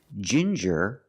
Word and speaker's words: ginger: With ginger, we use the j sound like juice and jump. J and the regular n.